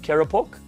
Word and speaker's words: Keropok: No, how do you pronounce that? Keropok? Keropok. Keropok. Okay. Not the Merakok. It's the Keropok.